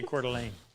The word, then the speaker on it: Coeur d'Alene: Looks French to me. It is, but they say Coeur d'Alene.